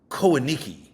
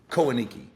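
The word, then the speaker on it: Kohanaiki: it's like a compound called Coen I could be mispronouncing it I don't know so I'm going to spell it for you guys k o h a n a i Ki koniki it's nothing but like multi-millionaire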